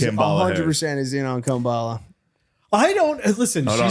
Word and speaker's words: Kamala: Kambala. Oh, Kamala. He's like, I called her Kambala. I was just joking around, but they're acting like I mispronounced it.